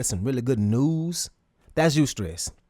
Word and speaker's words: eustress: So, the first one is called eustress, and that's spelled e u stress, e u s t r e s s.